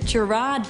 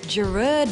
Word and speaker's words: Gerard: mostly call him Gerard Butler, but that drives him crazy. His name is actually pronounced Gerard Butler, and so he likes to go by Jerry so that we get it right.